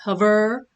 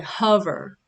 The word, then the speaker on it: hover: So I know it's hover with the stress on the first syllable, not hover, right? I say hover.